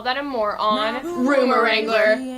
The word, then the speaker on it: Wrangler: Find out all that and more on Rumor Wrangler. The W is silent.